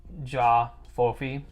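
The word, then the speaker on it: J'ba Fofi: j apostrophe f b-a-f-o-f-i i think that the b is mostly silent so it's going to be the jaw fofi i could be wrong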